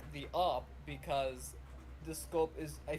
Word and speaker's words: AWP: in in cs go it's just pronounced op it's spelled awp in csgo it's not operator like